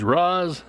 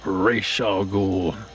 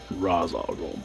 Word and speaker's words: Ra's al Ghul: That's how they pronounced it in Batman the Animated Series, and that is how I will always pronounce it. Ra's al Ghul. Ra's al Ghul.